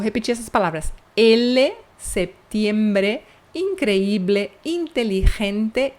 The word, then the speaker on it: increíble: Increíble, tem que pronunciar essa letra E, increíble, senão tá errado.